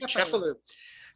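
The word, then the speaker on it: Cefalù: Lynne Viti is the author of the forthcoming The Walk to, I should have asked how to pronounce this, Cefalu? The Walk to Cefalu, thank you, Cefalu.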